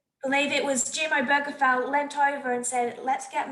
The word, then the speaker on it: Obergefell: Y para la gente queriendo decir la palabra, el apellido Obergefell, yo tuve que mirar cómo se pronuncia. It's Obergefell.